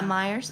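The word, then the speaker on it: Meijer: Hearing that Walmart and I don't know how you pronounce that. Meer Yeah. Myers.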